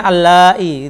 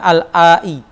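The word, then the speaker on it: اللائي: Bacanya allai gitu ya, bukan al-ai.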